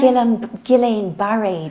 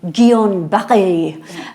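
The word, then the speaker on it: Guillain-Barré: you pronounce it Gan well I pronounce it Gillan gillain bar disease but I think but it's French so I think we should be going gon B um but uh I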